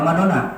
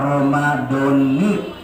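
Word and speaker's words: رَمَضَانِ: honoraries Kayla Aura nanti-nanti di sini bacanya Romadhoni atau Madonna Madonna yang betul yang mana menurut keterangan baik secara ilmu Nahwu itu adalah Romadhoni Kenapa memang kalimah Isim ghoir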